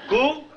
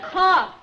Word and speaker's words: cough: Coo? Well, I know it can't be cow. It's cough.